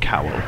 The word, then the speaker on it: cowl: They're like cow flaps, like a cow in a field, but actually it's cow. It's actually pronounced cowl.